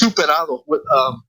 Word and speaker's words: Zuperado: It's pronounced Zuperado. It's actually Zuperado with an S, but we changed it to a Z for marketing purposes to kind of give it that little little punch. Yeah. So, but it's actually pronounced Zuperado.